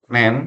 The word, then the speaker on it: NAND: Itu dibaca dengan not N. Atau kita bacanya nen. F dibaca A, nen, not N, nen, B.